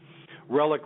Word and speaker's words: RelliK: Um, not to the extent of someone like Kung Fu Vampire, but um, Relic Relic. It's Say My Name three times. Relic with a K. It's killer spelled backwards.